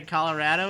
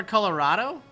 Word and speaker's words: Colorado: right salsa verde okay put a lot of emphasis on the a in Colorado ah that's more Colorado let's call it Colorado